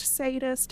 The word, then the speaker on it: Zsadist: Ward, it's pronounced sadist, and the Z is silent, but you know what, if it's there, I'm gonna say it.